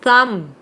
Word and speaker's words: thumb: ว่า ปีน เนี่ย หรือ คำ ว่า Thumb ที่ แปล ว่า นิ้ว โป้ง หรือ ว่า lam แกะ แล้ว ก็ โม หวี พวก นี้ เนี่ย จะ เป็น silent be ก็ คือ ี ด้าน ท้าย เนี่ย ไม่ ออก เสียง โอเคเนาะ อ่ะ อัน นี้